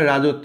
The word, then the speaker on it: রাজত্ব: দুইটা আছে এখানেও দুইটা রাজত্ব দেখো ত ত এ ত হয়ে গেছে না মানে এটা যুক্তবর্ণ না এভাবে না দেখায় মানে ত এ ত হয়ে গেছে তাই না এরকম এখানেও স টা